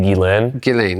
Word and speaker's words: Ghislaine: Is it when Ghislaine, how do you pronounce it? It's technically Ghislaine.